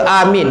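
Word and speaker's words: آمين: Pertama, memanjangkan sebutan alif serta meringankan sebutan mim. A-nya panjang, min. Yang kedua, memendekkan sebutan alif serta meringankan sebutan mim. Amin. Pendek aja, amin.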